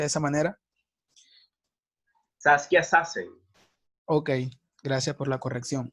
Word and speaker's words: Saskia Sassen: la socióloga saskia sassen creo que este se pronuncia de esa manera saskia sassen ok gracias por la corrección a la letra